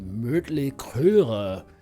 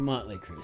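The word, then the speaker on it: Mötley Crüe: are absolutely useless because if you were actually to pronounce this the band this band's name with the actual umlout pronunciation the German pronunciation it would be mtle and I don't think that's what they go by I think it's a monly creu so but I don't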